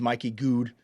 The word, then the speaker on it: Mikey Goode: And it's so cool, because it's like the top half of a guitar, and then the bottom half of the guitar is Mikey Goode music.